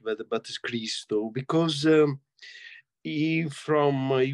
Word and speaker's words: Christo: consider that um um Chris Christo the the pronunciation is not Christo correct where the bat is Chris though because um he from he was from Bulgaria